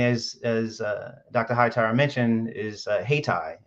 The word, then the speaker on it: Hayyti: Hightower mentioned, is Haytai. It's spelled Hayyti.